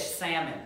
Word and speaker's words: Salmon: Most people, this is not like the fish, salmon, this name. It's pronounced Salmon.